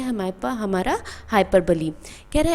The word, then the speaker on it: hyperbole: इसमें बहुत ही important topic है जोकर है जो कि है हाइपरबली। हाइपरबली का कुछ लोग प्रोनाउंसिएशन करते हैं। हाइपरबोल जो कि रॉन्ग है। इसको हम बोलते हैं हाइपरबली और हिंदी में इसका नाम होता है अतिशयोक्ति।